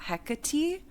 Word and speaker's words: Hecate: And then she the first chapter is about um Hekate Hecate um and Hec she has a pronunciation in it and it is like Hecati.